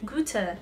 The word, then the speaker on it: Goethe: even though you can't see it good snacks Goethe Goethe C okay in English and you say